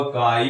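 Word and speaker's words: χ: इसका उच्चारण होगा काई, कई जगह पर इसको जाई से लिखा, बट सही यही है, ज्यादातर मोस्टली काई का ही प्रयोग करते हैं।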